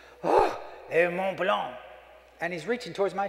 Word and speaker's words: Mont Blanc: A Mont Blanc. He teaches me how to say it. It's kind of nasal thing, sort of comes out your nose.